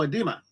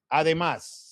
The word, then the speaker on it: Además: Oh, edema. Además.